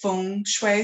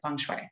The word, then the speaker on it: feng shui: It's pronounced feng shui. So if you're ever working with Asian clients and you want to impress them, you would say feng shui. But here, everybody, if you say it the correct way, they kind of look at you funny. So everybody pronounces it feng shui.